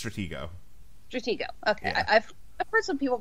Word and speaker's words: Stratego: Stratego is a Stratego a Stratego i it's Stratego okay first some people pronounce the G is a J for some